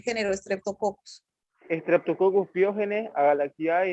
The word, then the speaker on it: pyogenes: experimentos streptococo pyógenes son no diga pyogenes diga pyogenes acento en la genes